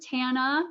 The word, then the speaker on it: Tana: name is Tana, rhymes with banana.